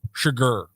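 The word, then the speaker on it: Chigurh: Was how do you pronounce his last name? Sugar.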